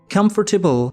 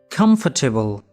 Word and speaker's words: comfortable: Comfortable has 4 syllables. In British English, we pronounce it as comfortable, comfortable, comfortable.